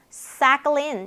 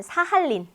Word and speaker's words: Sakhalin: Sakhalin. 야, 이거 참 어려워요. 사클린. 이거 보면 사할린. 사할린 동포할 때 그 사할린.